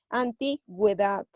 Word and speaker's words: antigüedad: ver si yo lo si yo pondría esta palabra sin diéresis sería antigüedad pero como yo voy a poner la diéresis vamos a pronunciar la u y sería antigüedad el caso de bilingüe